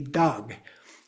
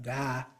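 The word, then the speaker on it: དག: So there may also be dangling silent consonants at the end of a word. So, we have the word d a g. You would think it would be dog. Uh, not an o, but da d dog, but it's da like there's an h at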